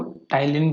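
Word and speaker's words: ptyalin: यहाँ से ये सलाइवरी ग्लैंड से आया टाइलिन, टाइलिन को ऐसे लिखा जाता है, ठीक है, इसको प्रोनाउंस टाइलिन किया जाता है।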